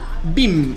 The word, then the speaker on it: Vim: Vim es un software, es un poco más brígido, digamos. Se escribe B corta y M.